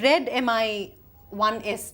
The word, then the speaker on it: Redmi: about the xiaomi Mi uh the the xiaomi red Mi 1s did I get that right so it is